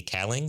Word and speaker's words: Kaling: I don't know how to pronounce her name, but from The Office, Mindy Kaling. Is that how you pronounce her name? Kaling.